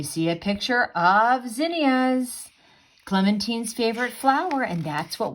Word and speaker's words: Clementine: Her Heart, folk artist Clementine Hunter. Now, I've been pronouncing her name Clementine, but actually, I just realized I've been pronouncing it wrong. It's pronounced Clementine.